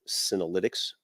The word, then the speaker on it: Senolytics: So the business is called Senolytics, and that's derived from the word senescent and the word lysis, meaning age busting, basically. Senolytics, spelled with a C out of the X at the end, are basically a class